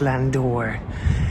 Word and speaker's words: landau: Here we have the semi-state landau, it says there, but it's actually pronounced landor.